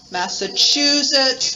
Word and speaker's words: Massachusetts: be georgia first syllable massachusetts third syllable nevada second syllable iowa